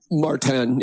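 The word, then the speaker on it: Maurten: And I've been hearing more and more about your nutrition that you use, which is the Morten. I think that's how you say it. Marten, yeah.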